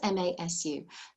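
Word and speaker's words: ます: that ending is but the su at the end is so quiet that it really just sounds like mass all right with just a soft s at the end it's spelt m-a-s-u that is the ending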